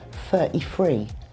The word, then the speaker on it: thirty-three: If you're a Cockney from London, you might say 33. You mean 33? No, 33. So the f becomes f, and with the T sound, there's a glottal stop. So you stop the T in your throat.